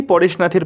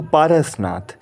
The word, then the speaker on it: পারসনাথ: এই সেই পরেশনাথের পাহাড়। যদিও এখানে এর উচ্চারণটা কিন্তু পারসনাথ। পরেশনাথ নয়। হয়তো মানেটা একই। কিন্তু এখানে এটা পারসনাথ নামেই বিখ্যাত।